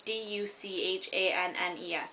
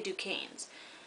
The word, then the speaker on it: Duchannes: So, basically, Lena Duquesnes, they say it's Duchannes. In the trailer, they say Duquesnes. I pronounced Duchannes or something when I was reading because I didn't really care about how it sounded.